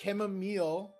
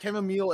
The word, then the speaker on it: chamomile: pronunciation from? It's chamomile if you're British, and it's chamomile if That you're doesn't American.